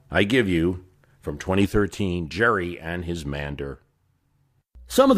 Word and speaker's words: Gerry: Not only has he lost his political dignity in history, But Gerry lost the hard G in his name, and gerrymandering is now an international term for a crime against democracy.